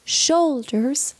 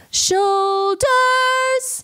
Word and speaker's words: shoulders: as in the world shoulders don't accentuate the second syllable it's not shoulders shoulders so don't accentuate the top note I think it's so much prettier when you go shoulders and then barely skim that note there shoulders very very